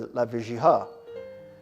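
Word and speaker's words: Lavigerie: I told her when we spoke that I suspected the name was a misspelled version of Lavegerie, or maybe in French they pronounce it as Lavegiha.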